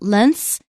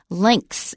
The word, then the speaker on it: lengths: that means and lengths I hope you noticed how Wesley said it put a K in there it's not Lance some people actually do say it that way but I think it's more standard to say links if you listen The